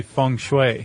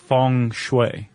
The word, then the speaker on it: feng shui: Are we going to pronounce this fun? Uh I usually say funue. Funue. But uh it could go either way.